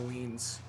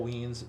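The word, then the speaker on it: Wiens: Kyle Weens. Rhymes with beans. Kyle Weens, because he gives you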